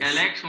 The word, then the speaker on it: Alexon: Alexon mesmo a pronúncia?